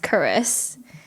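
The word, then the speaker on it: Charise: end so now it's CH AR ISE but pronounced Curris and it actually means grace pretty dope dope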